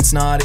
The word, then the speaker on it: Snaadt: My name is Snaadt. It rhymes with odd, and you're listening and watching the Rhymes with Odd podcast.